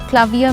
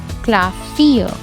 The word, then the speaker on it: Klavier: Klavier means piano. I don't say it like Klavier.